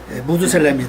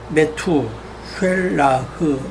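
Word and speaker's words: מְתוּשֶׁלַח: 메트라 그죠 메트 셀라흐 무두셀라 무두 왜 이걸 무두 셀레로 하는지 모르겠어요 발음은 그렇게 않죠 그죠 메투 셀라흐 이렇게 발음해야 되는데 예 예 무두 셀라가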